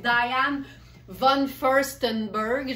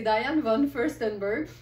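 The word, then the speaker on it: Diane von Furstenberg: c'est Dian vanon firststenberg je sais qu'il y en a des Smar qui ont beaucoup de mot puis qui font comme si' était pas capable de prononcer le nom de famille ça donne souvent diane Von je sais pas quoi mais c'est Diane Von firststenberg la designer à qui on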